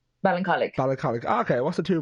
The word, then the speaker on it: Ballincollig: You're from, okay, actually, you're originally from, I'm definitely going to pronounce this wrong, Ballincollig? Ballincollig.